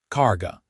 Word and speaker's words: Cara: Cara, Jonas repeated, trying to pronounce it the way she had with the emphasis on the first syllable.